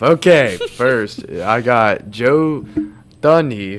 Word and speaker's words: Thuney: who i have okay first i got joe dunny how do you say his name he's going to the chiefs dooney yeah thank you um to the chiefs five-year